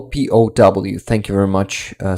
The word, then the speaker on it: POW: that's it that's uh pal p-o-w thank you very much uh Sarah Laz I will say pow from now on um each letter is pronounced separately it doesn't sound the like the word pal okay sorry sorry so